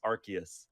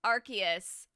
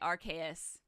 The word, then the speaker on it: Arceus: that like affirms that that is the correct pronunciation so it's arceus arceus arceus okay friend take a shot every time i say archais because it's gonna happen you will get drunk